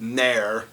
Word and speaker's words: near: It's called nare. It's pronounced it's spelled near but it's pronounced near whatever.